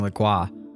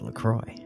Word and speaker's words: LaCroix: When it first came out, people were saying LaCroix. And the company was like, nah, it's LaCroix."